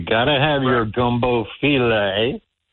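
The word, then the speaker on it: filé: You got to have your gumbo filet. Right. It's not I know it's spelled gumbo file, but it's gumbo filet.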